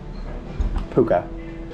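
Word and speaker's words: Pukë: good pronounce it okay update it is not pronounced puke it's pronounced puka P puka apparently the guy is paying for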